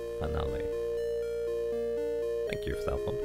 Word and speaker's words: Finale: Finale is pronounced Finn like Finnish or Finnish followed by Ali. Finale.